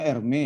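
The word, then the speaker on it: Hermès: Bacanya Hermes ya, nak.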